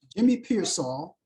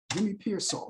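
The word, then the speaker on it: Jimmy Piersall: I pronounced his name wrong before. So let me look up Jimmy Pearsall. Jimmy Pearsall, yeah, that's his name.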